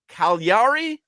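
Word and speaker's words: Cagliari: It's a GL and people don't know what that means.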